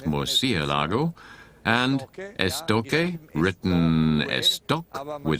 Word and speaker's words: Murciélago: Murciélago, there's an accent over the E, so it's Murciélago.